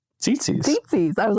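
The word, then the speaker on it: tzitzit: tzitzis. I was like, is it like tzatziki? Tzitzi. Tzatziki. You're going to have a problem. That's literally where my brain went. But it is spelled T-Z-I, so tzitzi.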